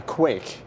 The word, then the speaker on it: quaich: These are called a quaich.